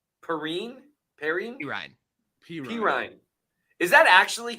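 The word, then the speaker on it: Perine: Pirine.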